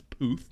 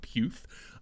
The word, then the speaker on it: Puth: I had to look up the pronunciation. It is Puth, not Puth.